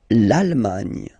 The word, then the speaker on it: Allemagne: And final E, not pronounced. Irlande. Le Royaume-Uni. Le Royaume-Uni. Le Royaume-Uni. OK. L'Allemagne.